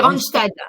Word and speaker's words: Randstad: Moi je dis c'est pas Randstad. C'est Randstad. Voilà, c'est comme un stade.